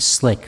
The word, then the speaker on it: SCLC: southern christian leadership conference abbreviated as sclc or pronounced slick for short and there weren't many